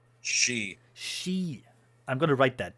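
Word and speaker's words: Sidhe: She. She. I'm gonna write that down. She. I always forget. Yeah. She. The D is silent. Yeah, I pronounced like she.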